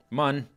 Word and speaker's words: Mun: we we we uh We spelled it like you should pronounce it moon but we're really going to pronounce it mun you thought we were